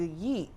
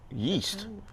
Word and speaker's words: yeet: What is a yeet? Yeast. No, yeet.